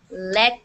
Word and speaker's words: let: He let me have the keys. He let me have the keys to his car for the weekend. Okay, so I know it sounded like left, but he didn't say left.